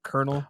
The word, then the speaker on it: colonel: it's like totally different like the word like Colonel oh it's spelled like Colonial you know this it's like totally different than the way you write it absolutely nuts usually those